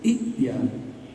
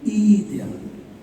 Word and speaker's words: ائتيا: Tapi kalau kita membacanya dari idia, membacanya jadi idia.